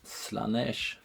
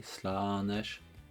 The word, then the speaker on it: Slaanesh: that would be the slanesh god there like two A's in there I suppose it's like in Long a slanesh anyway um as usual